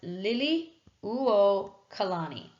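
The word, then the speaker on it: Liliuokalani: us to the last Monarch which is Queen Lily okalani and I know that name looks really difficult but it's a lot easier than you think it is pronounced Lily uo colani so Queen Lily okalani is going to be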